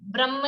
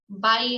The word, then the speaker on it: बाह्य: तो उच्चारण शुद्ध करें, ब्रह्म नहीं है, बाह्य है, बाह्यम, और फिर उसमें अंक की मात्रा है तो बाह्यम। अनशन और अवमोदर्य की चर्चा अपनी हुई थी।